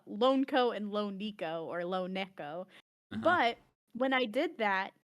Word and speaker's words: LoNeko: It's officially Lone Neco, but Lo Niko is accepted.